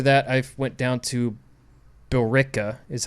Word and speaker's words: Billerica: and then after that I went down to Billerica is how it's pronounced Massachusetts okay just in between Boston and